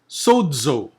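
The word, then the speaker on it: σῴζω: Also, since the Z is not in the first position, but it is in the middle, it is no longer Z, but it becomes DZ. DZ. Okay? So that is sodzo.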